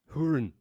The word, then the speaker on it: Hurin: this is like this his name starts with an H but after that it's urine without an e so yes it's gonna sound like urine yeah just hurin H there you go say it like that you're G to say it like a scotman h there we go